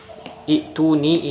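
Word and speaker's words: ائتوني: dan teori namun praktiknya Hamzah washol nya kita baca kasrah bukan kita baca dommah sehingga tidak sesuai dengan teori ya Nah kenapa bisa seperti itu kita Jelaskan di sini jadi asal kata itu ni ini seperti ini hai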